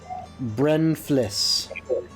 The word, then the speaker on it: Brenflis: Brenflis. Oh, never mind. I didn't. You were close though, very close. Right here, other maps. Oh, it's Renthris? Yes, Kuleth Kuleth? Brenflis. Almost like breathless, Yes, but with a really bad lift.